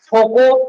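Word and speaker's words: Foucault: है भंवर धारा या फोको धारा। फोको हम लोग हिंदी में बोल रहे हैं, लेकिन इंग्लिश में वो लिखा हुआ है, देखिएगा फोकल्ट। फोकल्ट को मतलब हिंदी में प्रोनाउंस किया गया है फोको।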